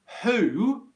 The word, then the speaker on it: who: short word would would that's compared to who for example who would you like to speak to who where it's a long one okay who who